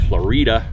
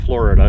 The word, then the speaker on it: Florida: One was called Florida, not Florida, even though that's the way it's spelled, Florida.